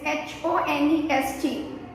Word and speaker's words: honest: Here, honest, it is H-O-N-E-S-T. H is silent, right? So sound is O, honest.